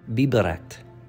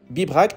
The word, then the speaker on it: Bibracte: C'est dur à prononcer. Bibracte.